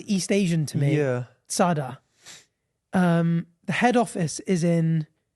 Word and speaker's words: Zara: Apparently, it's Tsada. Not bothered. Zara themselves came out and said it's pronounced phonetically Tsah, Tsa, Da, D-A-H. So it's not Zara, it's Tsada.